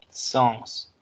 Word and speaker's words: sens: Atención, esta palabra si se pronuncia la S al final. Sens.